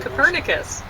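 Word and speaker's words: Kopernik: it wouldn't have been Copernicus no no that's just a latinization of his name I think it's foolish you tend to accent the second last syllable uh so it should be copernic but uh I think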